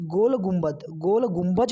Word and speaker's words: गोल गुंबज: हमारा जो अगला प्रश्न है वो है कि गोल गुंबज कहिए और या फिर गोल गुंबद कहिए, वो दोनों सेम ही हैं, उसका प्रोनाउंसिएशन अलग अलग है।